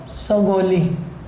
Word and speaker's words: Sagauli: ठीक है, उसको क्या बोला जाता है, जो आजकल काफ़ी चर्चा में है करंट में, ट्रीटी ऑफ सगोली। स्पेलिंग इसके हैं SAGA, सगोली, SAGAULI, सगोली, ट्रीटी ऑफ सगोली।